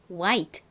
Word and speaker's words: white: 그럼 흰색이란 의미의 이 단어를 읽어보면 white, white가 됩니다. 보통 이 단어를 한국식으로는 화이트라고 많이 발음을 하지만 사실 영어식 발음은 화이트가 아니라 white이다 라는 점 기억해 주시고요.